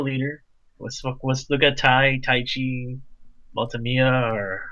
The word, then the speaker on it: Kamiya: It's Tai Kamiya. Oh, okay. Yeah, Kamiya. There you go, Maltamiya.